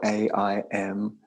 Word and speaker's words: Aim: We're going to place in the heart center this bija mantra Aim. It's spelled A-I-M, but it's pronounced Aim.